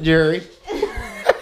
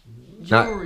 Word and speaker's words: jewelry: jewelry she calls it jurry let me see got some jewelry on is that not right jewelry how do you say it jewelry jewry not jurry jurry you want a